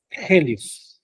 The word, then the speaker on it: helios: griego no por ejemplo en helio es una e con un espíritu y eso te dice en griego que se pronuncia aspirado la e helios No sí este hoy